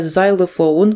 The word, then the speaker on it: xylophone: accordion, accordion, аккордеон, a xylophone, літера X читається як Z, вимовляється, a xylophone, ксилофон, a drum, барабан, a piano, піаніно, an organ, орган.